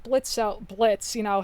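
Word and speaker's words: Blitzø: whole thing with like blitzo Blitz you know how he was once blitzo but now he drops well he didn't even drop the o just the O is silent I love that that's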